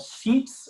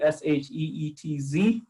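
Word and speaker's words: Sheetz: would get something that's called sheets again i have to be careful how i pronounce it s-h-e-e-t-z uh or wah-wah w-a-w-a uh and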